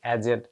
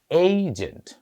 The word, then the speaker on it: agent: Marketing এজেন্ট কিংবা রয়ের এজেন্ট, উচ্চারণটা আমরা এখন থেকে এজেন্ট বলবো না, এইজেন্ট। আসলে এখানে এ, এ, এই কিছু সূক্ষ্ম পার্থক্য রয়েছে। আমরা যদি একটু খেয়াল করি, ব্যাট, বেট, বেইট, তিনটা ভিন্ন ভিন্ন উচ্চারণ।